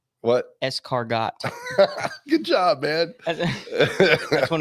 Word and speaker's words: escargot: here which one that one it's car it's cargo what escargot good job man that's when a snail tries